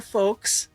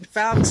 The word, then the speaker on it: Fowkes: So today, I am delighted to be with my guest, Hunter Fowkes. Did I say it right? Fowkes. See, I got it wrong the second time. Go figure. Hunter Fowkes.